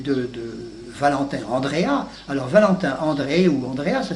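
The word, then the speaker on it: Andreae: Alors on dit André si on le prononce à la manière latine et quelquefois on dit Andréa pour faciliter parce que c'est plus commode à prononcer que André.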